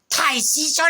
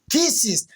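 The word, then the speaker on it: thesis: ডাক্তারও হতে পারে, ইঞ্জিনিয়ারও হতে পারে, আবার থাইসিসও লিখতে পারে। থাইসিস নয়, থিসিস।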